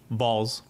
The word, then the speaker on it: Vols: Vols.